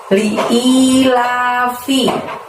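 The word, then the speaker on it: لإيلاف: Di ayat yang pertama dimulai dengan lafaz li'ilafi. Li-nya pendek, I-nya panjang 2. I-nya itu hamzah kasroh ya teman-teman.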